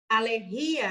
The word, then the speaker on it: alergia: Alergia está incorreto, porque no espanhol eu falo alergia, a sílaba tônica está aqui.